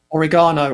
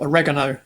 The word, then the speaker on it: oregano: it's one ingredient chicken it's one ingredient mhm oregano or oregano as you call it it's one ingredient I